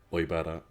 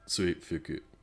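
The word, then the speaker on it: 追腹: It can be pronounced 2 different ways, both meaning the same thing, oibara and suifuku.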